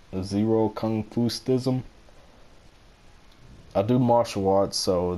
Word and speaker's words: ZeroKungfustism: but that's how you support that's how it's pronounced zero confused ISM I do martial arts so that's how the